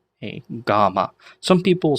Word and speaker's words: gamma: next one in in order after beta is GMA g m m a GMA some people will say G gamma but GMA is is how we're going to